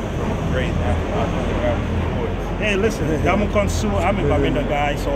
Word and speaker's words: Ndamukong Suh: I'm live right here with a top rugby homeboy, Ndamukong Suh, doing it big not only in Nebraska, but also in Cameroon as well.